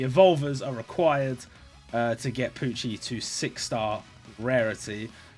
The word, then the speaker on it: Pucci: But I think that is how you say it, because it's like Gucci and it's Pucci.